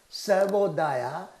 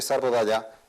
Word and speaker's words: Sarvodaya: Sarvodaya is spelled S-A-R-V-O-D-A-Y-A.